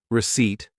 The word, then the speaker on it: receipt: Pronunciation checks, I practiced sour, two parts, sour, receipt, silent P.